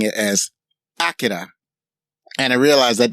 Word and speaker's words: Akira: were pronouncing it as Akira. And I realized that that's probably the more accurate Japanese pronunciation of the name.